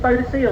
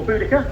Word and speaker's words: Boudica: It's the engine Boadicea or Boudica, depending how you wish to pronounce it. Different parts of East Anglia go for different elements.